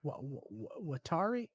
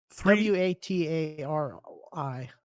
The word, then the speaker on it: Watari: know how to say watari what what I don't know w a t a r i it's it's two two letters at the time are pronounced Watari.